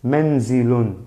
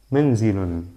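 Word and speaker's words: منزل: Menzilun. Miren, menzilun, así se pronuncia doble damma.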